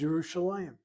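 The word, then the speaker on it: ירושלים: The word is Bi Yerushalayim, not Bi Yerushalayim, Bi Yerushalayim. So when they say Lehana Haba Beirut, how do they say it? Next year in Jerusalem. Oh, Jerusalem by itself is Yerushalayim.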